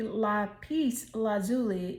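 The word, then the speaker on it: lapis lazuli: a decision okay the LA pece lazuli and I know I'm it sounds like I'm saying peace like p e a c e no no no no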